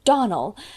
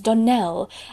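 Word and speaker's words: Donnell: you pronounced our name Donal now Miss Shirley the correct pronunciation of our name is Donell Accent on the last syllable I hope you'll remember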